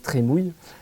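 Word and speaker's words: La Trémoille: duchesse de la Trémouille qui se prononce Trémouille a sa devise avec sous la forme de pluie parce que on la faisait rimer apparemment avec avec mouille et donc on distingue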